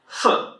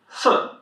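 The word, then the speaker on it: 四: sì sì Whenever you see an "i" Chinese you pronounce it as "uh".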